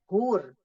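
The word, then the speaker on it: huur: Ya, kalau untuk orang Indonesia yang baru-baru belajar adalah hur.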